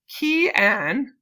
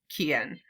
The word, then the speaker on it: Cyan: I'm saying it wrong. Key-Ann.